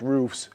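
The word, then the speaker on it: ROEF: So it's pronounced English, but it's Dutch written. R O E F. Uh so when people look for it, it's roof Amsterdam.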